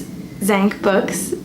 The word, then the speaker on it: Dzanc Books: I'm nervous to talk about the next book because I feel like I say the publisher's name wrong, so please don't judge me, but I think it's Dzanc Books.